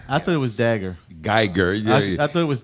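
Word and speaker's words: Guyger: Amber Dagger. She was What? Wow. I need my bell. what's her name? Amber Geiger. I thought it was Dagger. Geiger.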